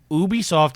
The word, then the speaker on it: Ubisoft: you say it sir it stands for ubiquitous software so it's Ubisoft ubiquitous software said Ubisoft you say UB it's not